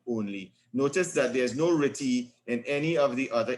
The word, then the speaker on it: RTTY: we are looking at ritty it's rtty which stands for radio telephony pronounced ritty slash data so we just